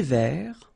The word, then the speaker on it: vert: Un thé vert, final T not pronounced.